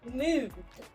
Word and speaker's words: Mond: In German In the German on the other hand, it's It's Mond. Mond. Remember that this they will pronounce it t at the end.